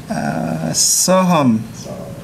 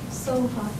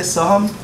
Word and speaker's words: Soha: Soham. Oops. I'm Soham. Yeah. Yeah. So, did I say it correctly, Soham? No, Soha. Soha.